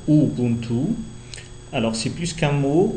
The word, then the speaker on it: Ubuntu: linguisto culturel plutôt donc Ubuntu on le prononce ouubuntu alors c'est plus qu'un